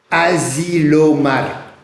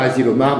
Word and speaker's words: Asilomar: Dans une petite ville de Californie qui s'appelle Asilomar. Ça s'écrit comme ça se prononce, A-S-I.